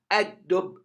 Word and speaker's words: الدب: you drop the lam and you put shadda on the dal. Ad-dub, ad-dub.